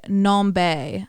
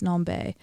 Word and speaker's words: NomBe: it's called weirdo by nombe i believe is how you pronounce it nombe um n-o-m-b-e but the n is capitalized and then the b's capitalize non-bae um such a good